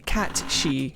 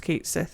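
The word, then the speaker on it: Cat Sìth: very Scottish, and the cat she, which is the spirit cat. Often mistaken for Kate Sith. If you play Final Fantasy VII, it's not pronounced Kate Sith, it's pronounced Cat She.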